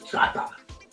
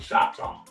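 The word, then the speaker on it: Chahta: So on my mother's side, my family is Chata, which is Chata, but people pronounce it Choctaw, Indian.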